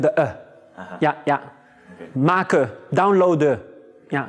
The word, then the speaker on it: maken: Maken, downloaden. Yeah, so we don't pronounce the N.